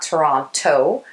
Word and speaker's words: Toronto: based in toronto canada did you notice how i said toronto and not toronto yep that's how locals say it toronto anyways before moving